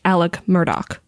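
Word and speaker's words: Alex Murdaugh: the thing it's written as Alex murd it's pronounced Alec Murdoch don't ask me why but his trial has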